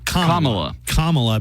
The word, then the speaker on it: Kamala: You don't want to put the emphasis on the wrong syllable. So it's Kamala, but I find myself all the time. Kamala.